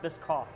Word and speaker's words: Bischoff: It's just the CH in there. Everybody wants to see that and go shh, you know. So it's silent. It's silent. So it's Bischoff, which I'm used to it.